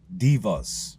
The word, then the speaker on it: deva: And these characters are divas. I kept saying devas for a while, but I'm going to but they're they're pronounced divas like d i va, but it's just spelled de va.